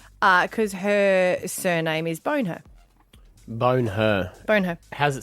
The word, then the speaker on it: Bonher: Wouldn't that be pronounced boner? No, it was her parents. Bone her.